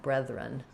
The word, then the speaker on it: brethren: Focusing on the it's actually very similar to breath. It's just that it's voice. So say the word breath and then breath. And then just start your ren as a new syllable, brethren. I'll write it like that, and we'll leave the vowel a little indeterminate, very short and reduced, brethren.